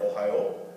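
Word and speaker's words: おはよう: accents like english right we have the state ohio and we say ohio it's got stress on the high in the middle of the word but in japanese it's a similar word ohio means good morning and ohio has a flat even stress across them so japanese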